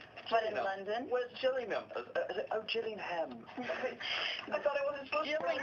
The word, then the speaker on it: Gillingham: was trying to get here I was like jilling them please cuz I figure it's like you know like Le not you're not supposed to pronounce all of the syllables it's like in London where's jelly oh Gillingham I thought it wasn't supped it's Birmingham right